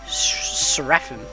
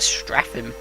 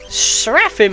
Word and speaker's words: Seraphim: Seraphim, I think that's how you pronounce. I always used to call it Straphim, but there was no T at the beginning, so that's wrong.